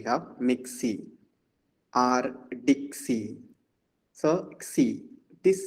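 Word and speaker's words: ξ: Xi. Xi. Suppose we have here, we say mixi. Actually mixer, but in ordinary day-to-day colloquial usage we have mixi or dixi. So xi, this sound.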